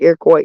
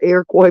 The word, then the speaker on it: Iroquois: even say it right I can pronounce it right right Iroquois Iroquois Park most people can't even pronounce that but I can't because